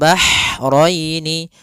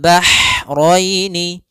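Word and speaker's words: البحرين: Kemudian bahraini ha ini ha-nya ha kecil. Hati-hati jangan terbaca dengan ha besar. Jangan marojal bahraini ya kan. karena dia huruf ha kecil. Bagaimana pelafalan H kecil? Yaitu hak atau bisa kita sebut dengan H pedas, yaitu eh adanya aliran nafas yang kita lafalkan dan dia lembut. Ah ah. Maka bah marojal bahroini.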